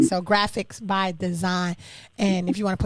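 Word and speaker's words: Graphix By Dzine: so definitely follow him graphics by design g wait it's spelled differently g r a p h i x like x-ray by design by b-y-d-z i n e so graphics by design and if you want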